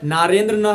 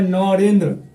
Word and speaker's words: नरेंद्र: में नाम हैर नरेंद्र रियल नाम है नरेंद्र नर जब अंग्रेजी में लिखा लिखाता हैना तो सब अंग्रेजी देखो न के साथ बना जाता है सब पढ़ने लगा नारेंद्र सब उच्चारण कुछ अंग्रेजी में नारेंद्र के नारेंद्र नारेंद्र बोलने लगता नरेंद्र तो दिक्कत हुआ कि आखिर नरेंद्र है कि नारेंद्र है कि नरेंद्र है तो हिंदी नरेंद्र अंग्रेजी ऐसे